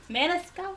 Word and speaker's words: Maniscalco: Maniscalco! Pronounced it right.